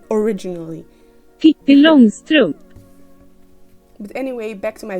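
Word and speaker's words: Pippi Långstrump: But screw it, here is how you're supposed to pronounce her name originally. Pippi Longstrump.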